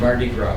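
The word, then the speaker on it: Mardi Gras: it's called Marty gr French word Marty gr yeah French no s sound at the end Marty Gro what does it mean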